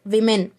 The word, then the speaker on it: women: We should pronounce this word as women.